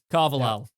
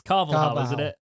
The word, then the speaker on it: Carvalhal: going to do it jake carvalhal it's carvalho i appreciate you trying